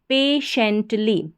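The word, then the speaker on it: patiently: पी ए पे और टी आई को पढ़ा श और इ एन टी हमारा कोड है एंट तो शेंट बन गया श भी इसमें जुड़ गया ना एंट में तो शेंट हो गया टी आई ई एन T shunt और एल वाई ली पेशेंटली क्या बन गया पेशेंटली पेशेंटली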